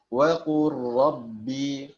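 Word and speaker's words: وَقُل رَّبِّ: Artinya digabungkan, lamnya tidak dibaca lagi pada lafadz waqul rabbi. Jadi tata cara pengucapannya waqur rabbi, waqur rabbi, waqur rabbi.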